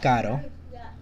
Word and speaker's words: caro: syllable, so it's not, as long as it's not the first syllable, and it's like one single R within the word, and it's a soft sounding R. So yeah, like caro, it's gonna be our next example.